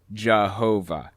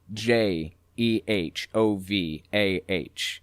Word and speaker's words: Jehovah: yahuwah and of course using a german accent y's are pronounced like j's and w's are pronounced like v's so as it passed through the germanic region it morphed into jehovah eventually when the king